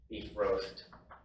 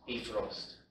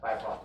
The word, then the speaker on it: Bifrost: Because according to Google, that's how it's supposed to be pronounced, beef roast. So, I mean, with the accent, it sounds more right, but Bifrost is not the correct pronunciation.